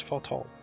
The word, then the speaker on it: Fortemps: I know that it's not like pronounced as you would read it, or as it's spelt.